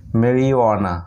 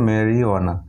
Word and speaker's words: marijuana: একটি ওয়ার্ডেই যে সাইলেন্ট থাকে সেটি হলো MARIJUANA মেরিওয়ানা, এটার উচ্চারণ হলো মেরিওয়ানা।